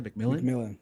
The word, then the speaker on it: McMillan: Jalen McMillan.